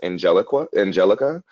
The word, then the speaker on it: Angeliqua: Her name was spelled Angeliqua. That's just how it was naturally spelled, but it was pronounced Angelica. And her graduation was ruined because when she crossed the stage, they mispronounced it.